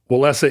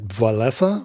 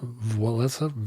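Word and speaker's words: Wałęsa: in 1981 they threw wesa in prison and I guess I should be pronouncing it vessa vesa for some reason there's a n Sound yeah like why why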